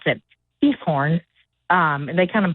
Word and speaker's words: Giethoorn: And uh it starts with a G but they pronounce it Giethoorn. Um and they kind of put like a little g- kind of sound with it. It sounds like they're hawking up a loogie.